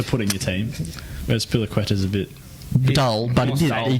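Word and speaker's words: Azpilicueta: Maybe I went for a Spiliqueta. Yeah. Did I nail that pronunciation?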